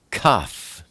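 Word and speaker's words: kaf: next we look at cough cough is the number 20 and it's pronounced K like kind it's the picture of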